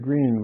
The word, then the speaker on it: Grene: Their last name is Green, but they spell it Grene.